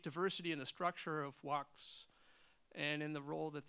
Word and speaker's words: waqf: words into your mouth, but when you describe Waqfs, am I pronouncing that right?